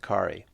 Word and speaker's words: Khari: Hi, I'm Ki. Nice to meet you. Ki, how do I spell that?